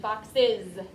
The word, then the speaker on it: boxes: But since it's at the end of the word, usually we would say it like Z, boxes.